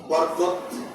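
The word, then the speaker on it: بركة: এটাকেই বলে আরবিতে বরকত। আমরা সুন্দর উচ্চারণে শুনি, যারা সৌদি আরব থেকে লেখাপড়া করে আসে, মিশর থেকে আসে, তারা বলে বারাকা। শব্দটা শেষে গোলতা আছে, গোলতাটাকে হা করে উচ্চারণ করেন।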